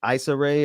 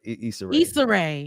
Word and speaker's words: Issa Rae: the sister i don't want to say her name wrong because i'm about to mess it up is it ice array or issa rae issa yeah i don't i don't follow her